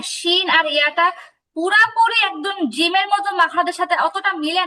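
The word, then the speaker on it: ج: থেকে 3টা হরফ আসছে, জিম, শিম, ইয়া। জিমটা সবাই খেয়াল করেন। জিম তো আমি বলছি উচ্চারণ সহজে বোঝার জন্য আমি বলছি যে বাংলাতে বর্গীয় জয়ের মতো, কিন্তু পুরোপুরি বর্গীয় জ না।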